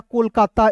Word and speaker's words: कोलकाता: अब देखिए यहां पर के ओ एल तो के का क ओ है तो इसका उच्चारण ओ के रूप में और एल है तो लिखेंगे ल कोल हो गया ए से लिखेंगे दोस्तों का लिखेंगे और टी ए का होता है ता क्या हो जाएगा कोलकाता एक शहर का नाम